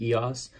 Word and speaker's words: EOS: Just recently learned that that's how you say it, EOS.